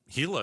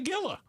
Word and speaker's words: Gila: I think I think um Gila is one of them like Yeah. Hila Bend or Gila River. I mean, if you first got out here and you look at that, I I think What the heck's a gilla?